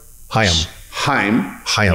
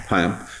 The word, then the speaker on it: Haim: Haim. Yeah. Haim.